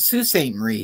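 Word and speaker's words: Sault Ste. Marie: It's called Sue St. Marie here.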